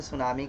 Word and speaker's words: सुनामी: ठीक है, असल में सुनामी का टी साइलेंट है, क्यों, तो भैया इंग्लिश वाली मैम से पूछ लेना, माध्यम में बता देंगे आपको।